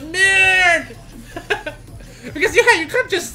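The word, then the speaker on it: merde: Don't pronounce the second E, just mer, like mermaid, but maid. But mird.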